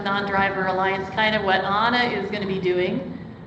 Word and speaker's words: Anna: She pronounces it Anna, A-N-N-A.